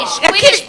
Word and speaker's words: Quidditch: But the point is that recognizing when there's that distance is the first step to making, catching the Quidditch ball.